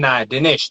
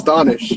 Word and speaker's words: Donish: Today we have on Danish. Did I pronounce that correctly? Yeah, it's Donish. Yeah, it's close. Donish.